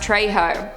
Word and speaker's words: Trejo: not happening zachary terry said he's spanish and it's pronounced trejo okay well i'm sorry